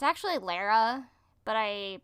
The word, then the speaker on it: Lara: looking and it's actually Lara but I pronounce it Laura uh because that's how it's pronounced in the game cuz she's British and so she says